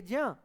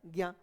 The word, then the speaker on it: ज्ञ: कैसे बदल दिया है वो आप देख रहे हैं, बोला जाना चाहिए ज्या, बोलते क्या है, ज्ञा।